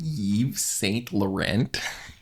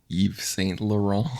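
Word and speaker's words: Yves Saint Laurent: so fashionable right now are you wearing ye St Laurent YSL Eve St lauron I had no idea that was even supposed to be pronounced this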